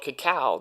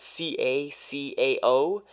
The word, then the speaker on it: cacao: next superfood is called cacao that ca ca oh and it's basically the